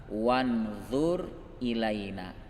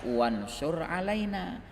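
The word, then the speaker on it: وَانْظُرْ: Tapi ada sementara orang membacanya wansur alaina. Ini fatal. Kalau nasoro ala itu artinya mengalahkan. Kalau dia bilang warhamna wansur alaina, kasihani kami, kalahkan kami.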